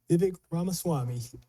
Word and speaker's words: Vivek Ramaswamy: And the last thing that was said, I was bringing up the conversation that, pronounce his name for me again? Vivek Ramaswamy.